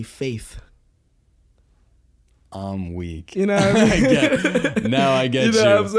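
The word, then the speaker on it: Feid: funny so like um fade it's spelled f-e-i-d but it's supposed to be faith i'm weak now i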